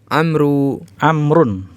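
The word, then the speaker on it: عمرو: Jadi wawu pada kata amrun, amrun ini nama orang ya. Wawu pada kata amrun di sini dia tidak dibaca.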